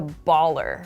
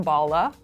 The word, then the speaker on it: baller: that guy is a baller for example or she's a baller and keep in mind my pronunciation is really pronouncing the ER sound you might hear it pronounced Bala like kind of a